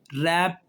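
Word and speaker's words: wrap: और जब आर आ जाए तब भी डब्ल्यू साइलेंट हो गया, देखें, राइट, रैप, रॉन्ग, उसके बाद जो है वो रेसलर, रिंग, रैथ, बहुत सारे लफ्ज़ हैं WR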